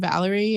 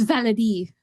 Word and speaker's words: Valerie: That's how they pronounce it. Yeah, Havelock. Okay. Havelock and Valerie, and it's Valerie.